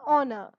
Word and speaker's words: honor: an honest man an honor you will not say and hover and hair and honest manner and horner instead of that h is silent over here you start with the vowel sound in this case we